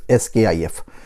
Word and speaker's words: SCIF: तो sensitive कंपार्टमेंटेड information facility, SCIF, इसको हम प्रोनाउंस करते हैं SKIF।